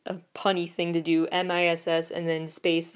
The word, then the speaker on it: Miss A: punny thing to do m i SS and then space letter a miss a like Missy and the Phantom though